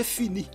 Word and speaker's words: finis: dire ils sont ici on ne prononce pas la lettre S et la lettre T on dit je finis on dit tu finis